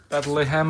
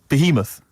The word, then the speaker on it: Behemoth: Bethlehem or something. Bethlehem. Baoth. Behemoth. Behemoth is it?